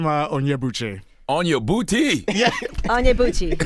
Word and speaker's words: Onyebuchi: So they always say Tochi Onyebuchi. Yep. See? Yep. I didn't want to say On your booty.